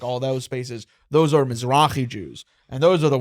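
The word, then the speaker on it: Mizrahi: No, you're going to have to correct my pronunciation. A mazrai Jew. Mrai. Misrai Jew.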